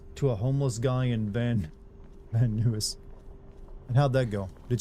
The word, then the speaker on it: Van Nuys: Pronounced Van Nuys.